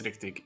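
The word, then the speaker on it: rigtig: Well, when we say Rictic Ninja, do we pronounce it in English or do we pronounce it how I would pronounce it here, which is Riktig Ninja, which means real ninja?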